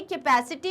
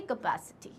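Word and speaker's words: capacity: तो अब ए का साउंड हमें पता है, तो क्या ये कैपेसिटी होगा, नहीं. क्या हो जाएगा ये, कैपेसिटी. कैपेसिटी. ये क्या हो जाएगा, कैपेसिटी.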